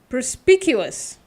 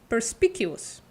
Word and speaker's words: perspicuous: it's very interesting pous should I pronounce the CSK in the middle is that what you mean perspicuous perspicuous I was read it completely wrong perspicuous all right hello Bruna